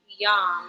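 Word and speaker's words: yam: is related to love relationships intimacy the seed syllable is y-a-m Yum we're gonna send that to the heart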